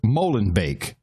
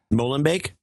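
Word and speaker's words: Molenbeek: is the only news Outlet who will correctly pronounce the word Molen bake that is how you pronounced the town Molen bake Molen bake exactly Molen bake yeah but what do we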